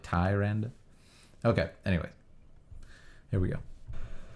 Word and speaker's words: Tyrande: So it's more like Tyrande.